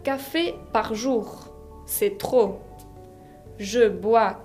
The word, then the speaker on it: trop: Trop significa demasiado. Así que peu, assez, beaucoup et trop. Trop se escribe con una P final que no se pronuncia.